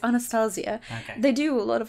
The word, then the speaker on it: Anastasia: say that is not in the stage it's Anastasia they do a lot of like eyebrow stuff